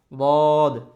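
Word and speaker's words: ض: তারপর আসি দদ।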